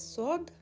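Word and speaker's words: صاد: Next letter is Sod. Now this letter is pronounced like Sin and Dari. Sod. So again, Sin, Sod, and Say. In pronunciation, in Dari language, there is actually no difference.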